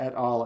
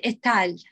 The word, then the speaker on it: et al: Marco, I believe this one is pronounced et al. And I've used it myself in my thesis, my master's thesis, and my own counselor told me, no, that's not how you pronounce it. You pronounce it etal.